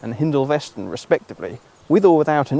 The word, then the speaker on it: Hindolveston: Now, as a Norfolk boy, I believe their correct pronunciations are Fulmodeston and Hindolveston respectively, with or without an "E" at various points throughout their existence.